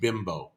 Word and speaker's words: Bimbo: got a brand of bread called bimbo b-i-m-b-o spelt exactly like it means something in english not fun so it's